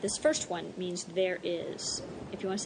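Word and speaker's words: hay: is h a y remember the H is silent I I we had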